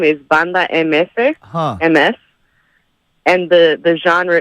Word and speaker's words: Banda: I just wanted to say the band is called Banda MS. Okay. Banda. Pronounced Banda. So you got it right the second Is time.